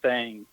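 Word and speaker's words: thang: it the Alabama white thing. And it's thing, t h a n g. You have to spell it. So, not thing, the Alabama white thing.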